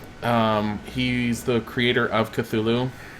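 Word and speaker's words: Cthulhu: he's the creator of cthulu um pronounce thulu if you must know but um but yeah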